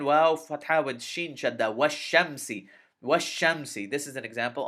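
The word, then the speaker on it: والشمس: Washam. Sin kasrasi. Washamsi. Now notice I didn't say wal shamsi.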